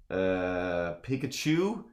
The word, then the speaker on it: Pikachu: Pikachu, of course, rhymes with electrocute you.